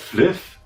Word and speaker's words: Flyff: Das heißt Fliff. Fly for fun. Fliff ist doch ganz einfach.